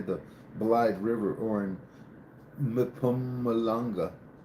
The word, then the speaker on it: Mpumalanga: While many while many believe it remains buried near the Blythe River or in Mpumalanga. Pumalanga. Mpumalanga. Mpumalanga. Is that how you pronounce it?